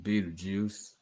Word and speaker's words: Betelgeuse: Boom, Beetlejuice. As you can see, the way they pronounce his name, where that arrow is pointing, is the way you pronounce the name of the star.